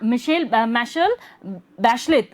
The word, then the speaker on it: Michelle Bachelet: That girl, Michelle Bachelet, है ना, मिशेल बैशलेट इसको प्रोनाउंस करेंगे हम लोग, वॉज इलेक्टेड प्रेसिडेंट।